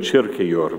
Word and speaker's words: Kierkegaard: It's a theme that I take from the Danish philosopher Søren Kierkegaard, or I understand he should be pronounced something like Søren Kierkegaard, but I won't do that.